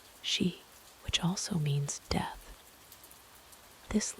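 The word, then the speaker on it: し: In Japanese, four is pronounced she which also means death.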